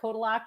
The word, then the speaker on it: Kotylak: It's Kotylak, but Kotylak is often how people say it. So we're okay, Kotylak.